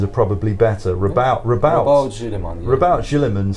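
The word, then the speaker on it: Roboute Guilliman: So I'm afraid I read that name for the 13th Primarch as Reboot Gilliman, and I hated it. Your alternate pronunciations are probably better. Rabout Gilliman.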